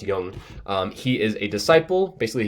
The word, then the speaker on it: Jung: complex that's Alfred Adler then Carl Jung that's pronounced Jung he is a disciple basically he means he